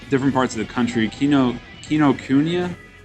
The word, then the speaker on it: Kinokuniya: Kinokuniya? Or as a certain other person would call it, Kinokiki or whatever. Kinokiki. Because he can't pronounce it with shit.